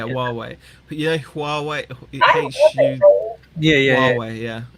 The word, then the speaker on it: Huawei: Huawei. Yeah, it's pronounced Huawei or something.